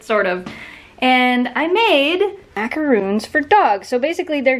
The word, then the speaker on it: macarons: Not macaroons, macaroons, the fluffy ones, for dogs.